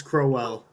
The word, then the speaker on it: Crowell: It's Crowell.